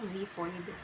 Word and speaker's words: xiphoid: X, pronunciation Z, example xiphoid, which means pertaining to the cartilage attached to the sternum.